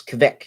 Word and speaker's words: Kveik: ] or quake but i think it's cavic you gotta have like a strong kind of a v sound mashing in with the ike sound so i guess